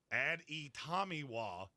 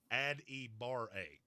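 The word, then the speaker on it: Adetomiwa Adebawore: Add e Tomiwa, add e bar a. That's exactly how it's pronounced.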